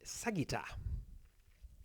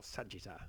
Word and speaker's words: sagitta: You find that the distance, the sagitta, or sagitta if you want to pronounce it as an English word, meaning the distance CD